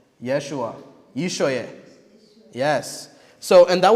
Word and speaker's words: Yeshua: But how do you pronounce the name? You guys know? Joshua is not Joshua. It's Yeshua. Yeshua.